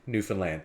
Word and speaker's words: Newfoundland: And, you know, from marrying a Newfie, I know this, and from mistakenly saying Newfoundland around a Newfie, it's Newfoundland, okay? Understand? Newfoundland. That's how you say it.